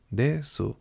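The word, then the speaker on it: です: Por eso no se dice desu, sino que se dice des.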